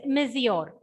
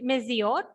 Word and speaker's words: monsieur: Okay, so this is one term, that is monsieur. That is the pronunciation in French, monsieur.